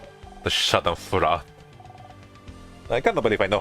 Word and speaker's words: Schadenfreude: The Schadenfreude. I can't believe I know how to pronounce that.